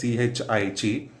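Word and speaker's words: χ: But FBD is given as CLT, this is pronounced as CHI, LT Fy by gamma m naught.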